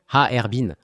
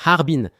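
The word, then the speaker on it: 哈尔滨: Ensuite, la capitale du Haong Haerbin. En fait, c'est trois syllabes haerbin. Ça ressemble à Harbin mais c'est haerbin.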